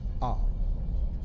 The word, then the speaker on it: K'ah: meaning of the honorific K'ah. It is spelled Q-A. K'ah.